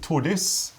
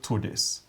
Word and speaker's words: Tordis: because that will help you remember how to pronounce them. So this one here is called Tordis. And Tordis is a Norwegian name. It's a woman's name, or Scandinavian name anyway. So Tordis, woman's name.